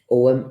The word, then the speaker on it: Ogham: has the runes and obma had the OM om is pronounced om although is spelled ogam but it is om